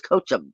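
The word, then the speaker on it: Kochab: And this is I used to call it Kokub. I was always pronouncing it wrong. It's Kochub.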